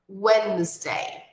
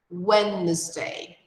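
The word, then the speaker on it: Wednesday: cheguei o X é Wendy Wendy observa aqui nesse dia da semana que é quarta-feira nós não pronunciamos a letra dentro ela é silenciosa é umas pô pulamos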